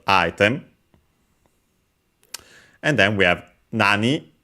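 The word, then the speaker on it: 何: And then we have nani, again, what, accent on the na.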